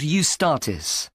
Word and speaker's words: Eustatis: The next day, the 18th, there's a performance by a ballet company called Eustatis. Sorry? The name is spelled E U S T A T I S.